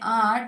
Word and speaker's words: hour: Here in these words, the letter H is silent.